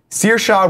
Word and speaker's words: Saoirse: names actresses name correctly saoirse ronan i believe is how you say her name okay close i looked